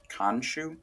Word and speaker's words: Khonshu: it's of the Egyptian god, I believe it's pronounced Khonshu.